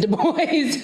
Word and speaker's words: Du Bois: his name he said my name is pronounced in the english fashion do with you as ensue boys as oi and voice the accent is on the second syllable so it is the boys i just wanted to